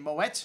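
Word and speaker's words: Moët: That's right, the E is pronounced because the accent after the E. And Moet and Chandon, well, they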